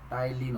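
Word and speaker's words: ptyalin: सा होता है बच्चे, टाइलिन होता है, बी साइलेंट होता है इसमें।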